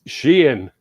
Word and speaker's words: Scian: usually gets butchered no it's uh well it's italian so it's just got a little bit more of an inflection okay yeah but yeah